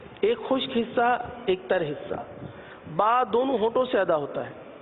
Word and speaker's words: ب: ادا نہ کیا جائے۔ جیسے کہ ہم پہلے عرض کر چکے ہیں کہ با دونوں ہونٹوں کے تر حصے سے ادا ہوتا ہے۔ اگر با کو خشک حصے سے ادا کیا تو کیا ادا ہوگا؟ با کے بجائے پا ادا ہوگا۔ اگر آپ اس کا